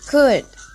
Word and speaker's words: could: Repeat after me, could. Good. The third one, will. Repeat after me, will. Good. The fourth, would. Repeat after me, would. Oke, jadi untuk yang nomor 2 dan 4, L-nya tidak dipronounce ya.